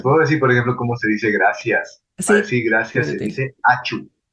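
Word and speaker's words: ačiū: se dice gracias gracias achu achu achu así como si estuviéramos estornudando la vez pasada nos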